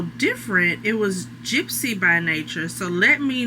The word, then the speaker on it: Knature: So, Nature, um, there's this jewelry brand that I like called Nature, spelled with a K. K N A T U R E.